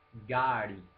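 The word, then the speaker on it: गाड़ी: Gari, con r retroflessa, la famosa r veneziana gari.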